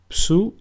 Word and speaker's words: Ψι: Ψι, which is pronounced ψου, and a sample word is ψωμί, which means bread.